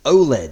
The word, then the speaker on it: OLED: the answer is b o l e or generally as you would pronounce it OLED so we'll go through